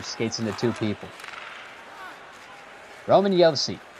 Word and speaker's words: Josi: Roman Josi, from a country where they pronounce J's like Y's, as Ottinger preserves the shutout.